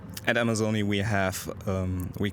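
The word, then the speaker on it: Amazone: Yes, Amazoni is the Amazoni is the pronunciation we choose in English, or the company chooses in English.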